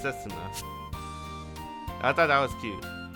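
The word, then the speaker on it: 雪菜: But it's written like Yuki, like Yukina. But it's pronounced Setsuna.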